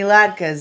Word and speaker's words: latke: No, it's just it's a potato latke. It's a yeah Latke. I say it right. Latke.